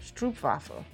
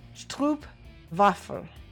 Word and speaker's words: stroopwafel: Stroopwafel. Did I say it right? Stroopwafel. Because I know that you guys don't have the W sound like we do.